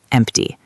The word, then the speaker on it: empty: Right, like in the word empty. There is a P before the T, so we pronounce the T, empty.